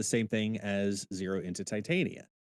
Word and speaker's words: Titania: thing as zero into Titania yeah which I'm very proud that you pronounced it right this time but I like the color over here yeah the Dan cave yeah you can call her Tatiana but that's not her damn name no one knows who